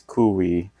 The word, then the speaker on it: Cui: k ye W but looked out the the pronunciation says kui but uh it's also his name is also